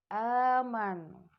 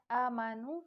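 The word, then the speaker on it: آمنوا: Contoh, amanu. Nah, jadi anak-anak ustazah tidak membacanya amanu tapi amanu.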